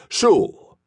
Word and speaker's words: Schul: "Schul rhymes with no bull."